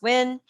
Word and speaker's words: Nguyen: on facebook at julie newton and it's spelt n g u y e n but pronounce nguyen on instagram at juju love j-u-j-u-love underscore n-g-u-y-e-n pronounce win on linkedin under julie nguyen and at her